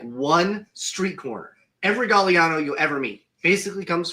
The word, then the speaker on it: Gagliano: about my name because if you look at my name it looks like it's spelled gagano right so I but I've been told it's gallano so I had went